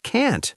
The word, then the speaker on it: can't: It sounds like I can believe it, but it means can't. That is tricky. It is because the T in can't is often not strong.